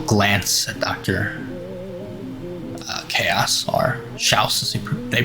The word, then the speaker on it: Chaos: Chaos, or Schaus as they pronounce it.